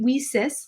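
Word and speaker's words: WiCyS: acronym leases w-i-c-y-s and we pronounce it we sis like we sisters because that's exactly what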